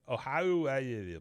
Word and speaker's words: Oahu: Oahu Bowl.